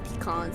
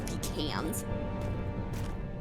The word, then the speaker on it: pecan: But I love how there's pecan like swirls 3 are different good. pronunciations for pecan. There's pecan, there's pecans, and then there's pecans.